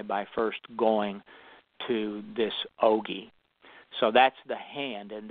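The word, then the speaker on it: ogee: The eye is an ogi. The word ogi is spelled O-G-E-E, and it means a slit or window.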